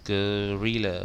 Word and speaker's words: guerrilla: Guerrilla bacanya gitu ya.